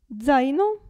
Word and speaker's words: zaino: Però, attenzione, la Z all'inizio della parola si pronuncia Z. Z. Zaino.